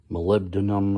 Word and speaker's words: molybdenum: Molly, which is obviously short for Molly B denim, which is how I pronounce it. I know it's molybdenum or something like that.